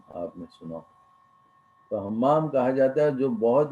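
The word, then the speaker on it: همام: کا نام حمام تھا، یہ گول والی ہے، دو چشمی ہے، میم الف میم، اس کا تلفظ ہے حمام، ہم سے نکلا، ہم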